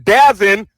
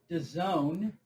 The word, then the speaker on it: DAZN: Well, DAZN, which is the proper pronunciation.